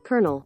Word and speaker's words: colonel: Number two, as I've mentioned before, there are rare instances in which Americans will incorporate a post-vocalic R in words that don't have one, like kernel. Colonel.